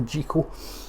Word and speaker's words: Jekyll: first versions to make Dr Jekyll or Dr Jekyll if you want to pronounce it the official uh Robert Louis Stevenson endorse Scottish way so Dr jiko um when it becomes